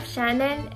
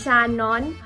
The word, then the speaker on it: Shannen: And it means old and wise, and it's commonly mispronounced as Shannon by a lot of Filipinos that I know, and Shaheen by people in North America.